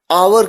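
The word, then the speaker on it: hour: ववलू किया है और ऐसा भी कहा जाता है कि एच एक साइलेंट है इसी वजह से भी आवर की ध्वनि आती है आ आवर देखिए कुछ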